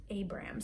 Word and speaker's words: Abram: So in this book, it actually says Abraham, but really it was pronounced Abram.